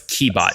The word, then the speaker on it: Qebot: So it's Qebot, just to be clear.